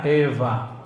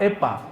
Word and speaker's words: Eva: Ha kecil sayidatuna Hawa bahasa ibraninya Eva pakai wau tapi wau di sana dibacanya semi-semi Ve antara wau dan Fa Eva bukan Fa bukan pula pa Epa bukan ya ada orang Sulawesi baca